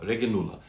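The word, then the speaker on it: reginula: alakia reg reg regula regula now very tempted to say Regala in Latin there a g is not a j it's a g Regal and it's it's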